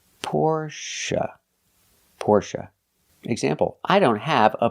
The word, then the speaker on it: Porsche: always Porsche or Porsche now the last syllable is pronounced uh like cup and up not a like say and pay but uh like cup and up Porche it's a relaxed sound the syllable is not stressed the stress is on the first syllable pora Porsche example I